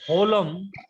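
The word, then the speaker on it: holem: Only the difference is So it is olam or holum. O or ho. O. Olam. No, the pronunciation is holum. H-O-L-E-M. Holum. H is pronounced.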